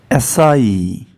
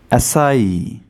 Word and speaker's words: acai: acai acai the UK pronunciation of this word is like this si